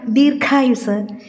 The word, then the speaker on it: ദീർഘം: ദീർഘം, ദീർഘായുസ് എന്നീ വാക്കുകൾ ഉച്ചരിക്കുമ്പോൾ ദീർഘം, ദീർഘായുസ് എന്നിങ്ങനെ ഖയുടെ ഉച്ചാരണം കായുടെ ഇരട്ടിപ്പായ ക യിലേക്ക് പോകാതെ ശ്രദ്ധിക്കുമല്ലോ.